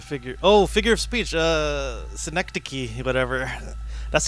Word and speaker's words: synecdoche: Synodouche? Is a figure. Oh, figure of speech. Synecdoche, whatever. That's how you spell it?